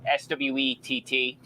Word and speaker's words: Swett: so Swett, Swett. So yes, I know it sounds like sweat as in perspiration, but it is spelt differently.